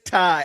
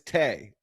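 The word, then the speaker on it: Tai: So it is Ty. Okay. My cousin name is Tay. Okay. And her name is spelled the exact same way, T-A-I.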